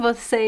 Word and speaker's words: você: You know, the pronunciation of você is interesting because it depends on the position in the sentence.